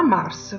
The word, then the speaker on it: Mars: La lettera S a fine parola non viene pronunciata, come ho già detto nel video delle lettere mute, ma Mars fa parte delle eccezioni, per cui la S va letta, perciò si legge Mars.